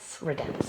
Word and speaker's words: Redenz: Guys, I don't want to say your last name wrong. It's Redenz? Redenz.